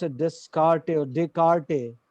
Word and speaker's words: Descartes: How do you pronounce it? Descartes or Descartes? Descartes.